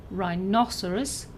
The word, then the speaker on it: rhinoceros: For all of these words, the stress is either on the second syllable, as in rhinoceros, or the third syllable, as in armadillo.